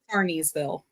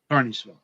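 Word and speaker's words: Kearneysville: Carneysville. Carneysville. Okay. Excellent. Just like the carnies at the carnival. Carneysville. But it's spelled with a K. Yes. So with a KEA, not a CAR.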